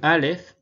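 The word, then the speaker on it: ألف: Tenemos por un lado el Aleph, que es simplemente un palito. El Aleph, que se pronuncia como la letra A del español, lo vamos a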